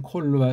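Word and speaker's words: כל: 콜 뭐 이걸 칼로 하던 건데 액센트가 없는 닫힌 폐쇄음일 땐 콜로 발음하니까 콜 힘주지 말고 하아레츠 요 알레프에 대한 인식을 해야만 합니다.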